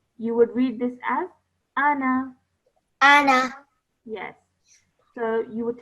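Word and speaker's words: أنا: to read it, then the Alif Zaida comes back in and you would pronounce this as Ana.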